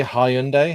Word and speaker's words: Hyundai: We say Hyundai. How do you guys say that? Hyundai is the Korean Hyundai. pronunciation.